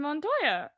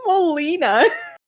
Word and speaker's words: Molina: Alfred Montoya. That's Is that not not his how you pronounce his name.